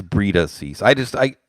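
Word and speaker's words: Breida: appreciate that and daniel did i mispronounce brita brida it's breeda cease i just i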